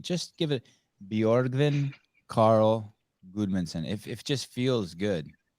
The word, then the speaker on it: Guðmundsson: like, and then also the D in like Guðmundsson, like it's GU. Like for you, it's easier to just spell it GUD, but it's actually GU, and then there's a letter called if.